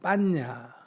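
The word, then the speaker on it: paññā: 빨려로는 빤야. 이게 우리식으로 발음해가 반야가 된 거예요. 원래는 빤야라는 거고요. 버머, 산스크리트어로는 프라즈나, 빨려로는 빤야 이렇게 부릅니다.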